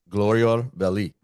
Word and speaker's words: Glorior Belli: Billy Bayou of Glorior Belli. Perfect. Perfect. Very good pronunciation.